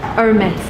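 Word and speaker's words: Hermès: fancy very much yeah Hermes so the correct way to pronounce it I was wrong you actually pronounce last s is amazed amazed I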